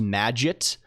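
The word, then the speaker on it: Magit: uh it's like the the Emacs plugin for Git is called Mad I think it's supposed to be pronounced Madag. Like it's M A it's M A GI T.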